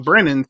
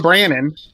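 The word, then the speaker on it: Brannen: compare that to john brennan's second year um he that's what i said you made it sound like the way that people spell it on the twitter oh sorry like brennan so john brannon uh first win lipscomb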